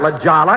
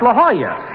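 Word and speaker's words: La Jolla: place jack that's not Lala it's La Hoya that's how you pronounce it in Spanish oh oh I didn't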